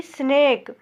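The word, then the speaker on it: snake: देखिए टी ए के ई टेक वैसे देखिए एस एन ए के ई स्नेक देखिए एस को आधा सा पढ़ा जा रहा है यहां पर क्योंकि दो कॉन्सोनेंट एक साथ में इसलिए एस को आधा सा पढ़ा जाएगा। ए को ए की मात्रा और इ का उच्चारण नहीं होगा। तो क्या हो गया? स्नेक। स्नेक इसको स्नेक पढ़ा जाएगा।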